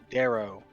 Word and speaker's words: drow: other uh how do you say their name dro drowie darrow darrow okay we talked to some other darrow and